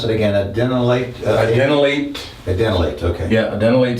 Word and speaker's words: adenylate: It binds a membrane receptor, and then that will activate an enzyme known as adenylate cyclase. And I would put little asterisks by that enzyme, adenylate cyclase.